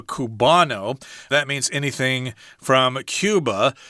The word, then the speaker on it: Cuba: that means anything from cuba cuba in spanish is called kuba but in English we say Cuba so if you're talking